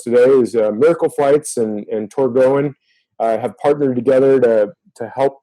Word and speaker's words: Torgoen: And you're right, we do get a bunch of different responses to the name, but the official name is pronounced Torgoen.